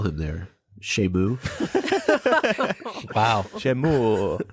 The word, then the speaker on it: Seamus: Here in America, where we don't understand pronunciations of things, they would call him Seamus. That's what I was going to say, because I definitely pronounced his name that way when I was first reading the books.